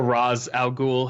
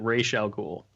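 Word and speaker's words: Ra's al Ghul: in uh ray chalgool i'm sure you guys are familiar with rachel ghoul or roz algool however you want to pronounce it but uh i i believe that denny o'neill pronounces it rachel ghoul since he created the character i'm gonna go with what he says uh i'll accept that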